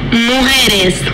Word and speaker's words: Mujeres: This is Mujeres. I hope I said that right. Mujeres. Mozart, LaCara. Justin. For the record, it's pronounced Mujeres, meaning women.